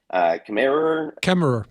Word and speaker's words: Kemmerer: How do you say his name? I always mess this one up. It's Kemmerer. There's too many R's.